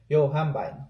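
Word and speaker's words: Yohimbine: So right now I'm taking a fat burner, Yohambine. That's how you pronounce it.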